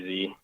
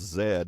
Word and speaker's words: Z: Z. Mr. Z. So, being in Canada, I know that Z is pronounced Zed, not Z, so why don't they call you Mr.